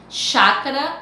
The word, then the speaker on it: chácara: Chácara é escrito com CH, mas quando você pronuncia chácara, você não pronuncia o CH, você pronuncia X, de chácara.